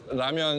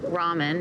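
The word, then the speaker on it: 라면: I would call this ramen. Ramen is more of a Japanese pronunciation. In Korea, it's more ramyeon. So think of it with a Y in between the M and the E-O-N.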